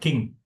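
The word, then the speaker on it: Kinh: really fascin So it's it's pronounced as like king king.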